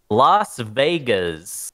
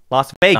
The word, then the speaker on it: Las Vegas: got to be, you don't mess up the pronunciation here. This one's called Las Vegas. Yep. Okay. Not Las Vegas.